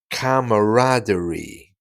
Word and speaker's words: camaraderie: chops around uh let's just say it again camaraderie camaraderie yeah and it basically means uh a